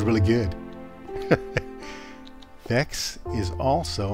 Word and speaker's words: Vechs: Vechs is also how to pronounce Vechs.